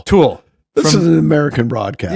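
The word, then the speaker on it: To Øl: to pronounce this because it looks like Tool, but it's T-O and then a big O with a slash through it, L. It's Danish. We'll go Tool. Let's just go Tool. Tool.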